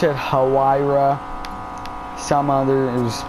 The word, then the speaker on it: Huayra: I've already said this before, but you know, like Pagani Huayra or Huayra, depending on how you pronounce it.